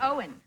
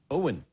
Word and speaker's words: Owen: How do you say Owen? Owen. Owen. That's Owen, my yeah. other son. Your son's called Owen? Owen, not Owen. Owen. What's the difference? That's what I'm saying, Owen. Yeah, Milo and Owen.